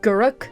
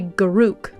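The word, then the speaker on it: Garruk: It's like, I say Guruk, but it's only until I interacted with other Magic players that I heard people say Garuk, and I refuse to say Garuk. That just sounds wrong.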